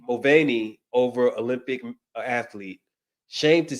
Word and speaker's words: Mulvaney: I don't know how to pronounce her last name. How do you say that, man? Mulvaney. Mulvaney over Olympic athlete.